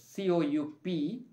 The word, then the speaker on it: coup: ruling out forces practically so remember that it's c-o-u-p pronounced as cool in the paper you will read it there